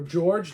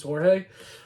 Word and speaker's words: Jorge: On the back, you've got a lovely picture of Jorge or George, depending upon how you want to pronounce it, but it's Jorge.